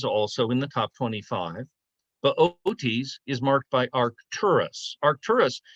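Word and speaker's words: Boötes: I can't put an umlaut on there. It's pronounced Bootes.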